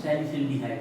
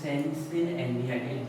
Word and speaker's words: salicylaldehyde: also called सिल एल्डिहाइड, या फिर फास्ट प्रोनाउंसिएशन करना हो तो सैलिसिल्डिहाइड बोल देते हैं, और अगर आपको स्लो प्रोनाउंसिएशन करना हो तो बोल देते हैं सैलिसिल एल्डिहाइड।